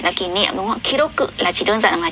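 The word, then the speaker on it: 記録: Đúng ạ, so desu ne, đúng rồi, từ này chúng ta sẽ đọc là kiroku nhá.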